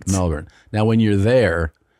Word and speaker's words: Melbourne: And she goes, "We went to Melbourne." And I go, "Melbourne." She goes, "No, it's pronounced Melbour."